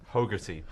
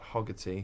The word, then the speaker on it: Hogarty: Hogarty. Hogarty. Hogarty. Not Hoggarty.